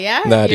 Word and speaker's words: Nadia: is yeah I know am I pronouncing your name right though yeah Nadia you're doing good hear NAIA or like